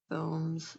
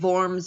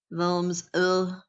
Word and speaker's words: Worms: So Germans pronounce W's like these. Worms. Yeah. And saying Worms isn't, well, I don't know. That would definitely be, that is saying it with an English accent. Worms, like this, like you're disgusted, I guess.